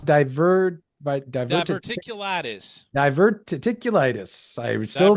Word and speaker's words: diverticulitis: Diverticulitis. I still mispronounce that. Diverticulitis. I got it. Diverticulitis is like a diver. Ticking your lattice. Your litis. Tickle your lattice. Diverticulitis.